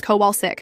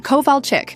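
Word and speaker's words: Kovalchik: "It's Koval Chick, right? Sorry, Mrs. Cowell sick," I said. Like I was really trying, but just couldn't get it. A few students snickered. She gave me a sharp look, but continued with the lesson. The next day, when she called on me again, I did it again. "Mrs. Cowell check, I think the answer is taxation without representation." "Covall chick," she corrected tursly. "Got it, Mrs. Kowalzik."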